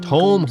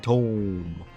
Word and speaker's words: Tome: It's pronounced Tom. How do I say Tome different? I'm not saying Tom. I'm saying Tome. Happy Valentine's Day, Tome. That's Tome, not Tom.